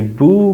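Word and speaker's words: bheu: It's spelled B-H-E-U, usually boo, boo.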